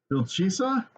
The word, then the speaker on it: Wilczyca: into the movie so this one is called uh seems to be pronounced buildchisa uh you'll see the